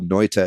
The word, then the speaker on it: Noita: about but i really urge you to google noita it's spelled n-o-i-t-a uh and it's it's only on